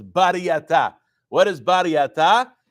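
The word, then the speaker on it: Baraita: That's called, really, it's not a Braita. Sfaradim, we pronounce it as Bariyata.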